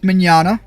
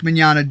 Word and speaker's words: Mignogna: I don't think it's Vic that I'm thinking of, but you're thinking of Vic Mignogna. I probably butchered the heck, bothered the heck out of his name.